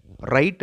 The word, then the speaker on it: write: அதே மாதிரி WRITE உச்சரிக்கிறப்ப W silent, ரைட் அப்படின்னு தான் சொல்லணும்.